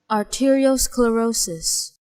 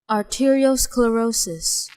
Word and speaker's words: arteriosclerosis: sclerosis is hardening so hardening of the arteries pronunciation arteriosclerosis arteriosclerosis